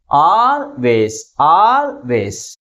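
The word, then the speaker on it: always: But which syllable is pronounced with greater force? First syllable is pronounced with greater force comparing with second syllable.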